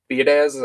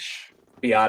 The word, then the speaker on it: Biadasz: So if they do bring in like they brought in Tyler Biadasz, I'm not sure if I'm even pronouncing that right, who the I think Commanders it's just released. Biotish. Biadish, yeah, I think that's right.